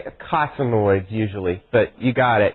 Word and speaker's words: eicosanoids: Yeah, we say eicosanoids usually, but you got it. Yeah, it's spelled E-I-C.